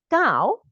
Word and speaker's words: 高: 高 okay, just like K-A-U.